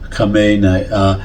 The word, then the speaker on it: Khamenei: Trump is wasting time negotiating with the mullahs, and that is, or negotiating with Khamenei, and that's, or as it's properly pronounced, Khamenei.